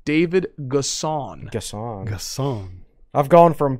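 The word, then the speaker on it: N'Guessan: in terms of newcomers and here's the correct pronunciation david gasson gasson gasson i've gone from ghisan to gessen to gassan so you can group him with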